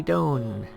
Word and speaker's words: Doan: Next we have Andy Doan, rhymes with zone.